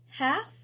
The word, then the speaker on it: half: the B is silent, half, the L is silent, and palm, the L is silent.